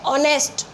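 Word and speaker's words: honest: अब देखिए ऑनेस्ट, तो शुरू तो ये एच से हो रहा है, लेकिन इसमें एच साइलेंट होने के कारण ये ऑनेस्ट पढ़ा जाएगा, तो ओ का साउंड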